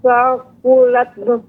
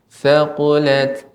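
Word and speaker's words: ثقلت: Fa amma man saqulat Ya, Ibu. fa amma man saqulat mawazinu. Ya, Ibu, pengucapan harus diberikan hamasnya Ibu. Thaqulat.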